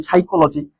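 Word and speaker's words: psychology: সাইকোলজি যদি কথা বলি সাইকোলজি সাইলজি পি উচ্চারণ হচ্ছে না। তার মানে পি হচ্ছে এখানে সাইলেন্ট লেটার।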